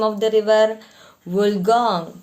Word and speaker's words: Wollongong: Wollongong. Pronounce.